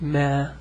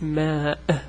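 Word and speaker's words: ماء: And see, it's not as easy to pronounce. It's not ma. It's ma.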